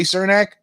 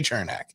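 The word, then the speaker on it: Černák: and yani gord with eric cernak chernak depending how you say it and i know you're going to correct me aaron but i'm telling you i've got a lot of lightning fans some of them say surnak some of them say chernak so it doesn't matter what's right or wrong it's how they say it uh so eric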